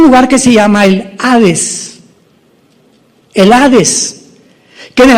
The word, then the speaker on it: Hades: la palabra Seol con Hades con h que muchos dicen jades se puede pronunciar así porque es en el griego y Cristo cuando él